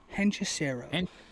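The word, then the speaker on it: Hechicero: Henchesero.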